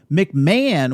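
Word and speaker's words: McMahan: decks show showrunner mike mcmahon which i just learned you pronounce his name mcmahon and dawn lewis uh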